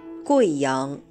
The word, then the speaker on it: Guiyang: Veuillez noter que, dans le nom de cette province et de sa capitale, le « U » plus le « I » se prononce « Wei » et non pas « Oui ».